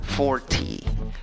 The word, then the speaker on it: forty: dices 40 en inglés se escribe con cinco letras la pronuncias con cinco sonidos divides la palabra en dos sílabas en la primera sílaba que es la sílaba que lleva la fuerza de voz la sílaba amarilla la pronuncias con una fuerte o y acabas la palabra con una y larga cómo pronunciar la palabra forty forty forty seguimos